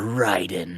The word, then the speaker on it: Raiden: They say Raiden, so I'm gonna say Raiden is Mortal Kombat. Ryden is this. They're the same word, and they are absolutely spelled the exact same way.